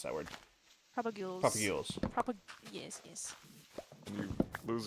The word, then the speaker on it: propagules: However you pronounce that word. Propagules.